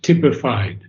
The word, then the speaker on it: typified: The coiled okay the coiled the coiled and sleeping serpent of energy within uh the word is best pronounced tipified. Tipified.